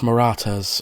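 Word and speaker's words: Marathas: they were the maratas oh so it's pronounced maratas I'm sorry for butchering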